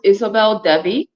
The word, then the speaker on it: Isobel Devi: your name um my it's pronounced Isabel Dei um and you know